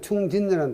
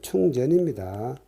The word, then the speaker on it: 충전: 법규에도 충진이라는 단어를 쓰죠. 충진이라는 단어는 없습니다. 충전입니다. 채울전. 요거는 한자를 잘못 읽어가지고 충진이라고 읽고, 대부분 공학 서적에 최근에는 충전으로 교정이 되었는데 산업안전보건법에서는 아직도 무식하게 충진이라고 표현되어 있습니다.